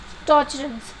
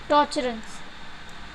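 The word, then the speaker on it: Tocharians: The cushions were also known as यूचर्स और टॉर्चरन्स. आई am repeating this word because ये थोड़े pronunciation में आप लोग को प्रॉब्लम हो सकता है. यूचर्स और टॉर्चरन्स.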